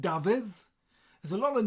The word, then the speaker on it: Dafydd: So I think the double D at the end, Dafydd.